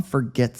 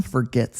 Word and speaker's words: forget: English we often say forget forget forget and it sounds like f r not f o r let's say this basic